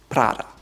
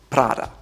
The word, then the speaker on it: Prada: Most Americans call it Prada. However, it's called Prada, Prada, Prada. Again, rolled R on your tongue.